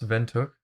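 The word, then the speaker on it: Windhoek: boroni and then there's vent hook which apparently is pronounced vent hook um or wind hook i don't know walvis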